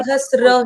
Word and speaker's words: सहस्र: सहस्र बोलते हैं ना सहस्र ही बोलना है हर जगह तो मैम ये जो त्र का साउंड है ये साइलेंट है क्या मतलब इसके अंदर आप ये यहां पे त्र है ही नहीं ये हमको हमने बचपन से हमको ये गलत सुनाया गया है अच्छा मैं इसको